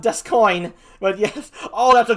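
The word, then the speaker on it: D'Ascoyne: says sounds like a cryptocurrency for weebs called desk coin yes it is pronounced dust coin but yes oh that's a good one oh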